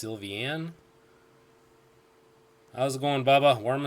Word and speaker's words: Sylveon: a stab in the dark I assume it's pronounced sylveon I was born bah-bah warm and toasty let's